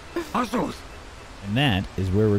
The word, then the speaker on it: Azuth: It's pronounced Azuth.